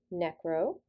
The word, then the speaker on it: necro: is heart muscle disease the prefix necro pronounced necro refers to dead tissue or the